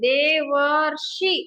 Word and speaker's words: ದೇವರ್ಷಿ: ಅಲ್ಲ ಇಲ್ಲಿ ನೋಡಿ ಅರ್ ಇದನ್ನ ನಾವು ಇಲ್ಲಿನೇ ಪ್ರೊನೌನ್ಸ್ ಮಾಡ್ತೀವಿ ಉಚ್ಚಾರಣೆ ಮಾಡ್ತೀವಿ ದೇ ವರ್ ರ್ಶಿ ಅಂತ ಉಚ್ಚಾರಣೆ ಮಾಡ್ತೀವಿ ಅರ್ಕಾರ ಬಂದಿದೆ ಅದಕ್ಕೆ ನಾವು